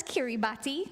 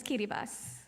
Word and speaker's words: Kiribati: You might see it spelled as Kiribati, but the proper pronunciation is Kiribati.